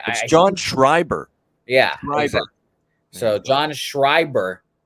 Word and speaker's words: Schreiber: it's gonna be a bullpen day with John Scribner script I could never say his name correctly I don't know what's wrong with me with his name John Schreiber yeah so John Schreiber like Lee F even